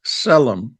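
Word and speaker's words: צֶלֶם: And the word for image there is selmom. starts with a T which is silent but it's Selum which means a image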